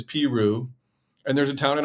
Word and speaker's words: Peru: Uh Peru is Peru.